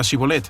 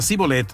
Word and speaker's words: Shibolet: Si él respondía no, entonces le decían, di pues la palabra Shibolet. Pero él decía Sibolet porque los efraimitas no podían pronunciarla bien, y de esta forma sabían que era efraimita.